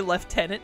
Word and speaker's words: lieutenant: The word left is not in that word. There's no F at all.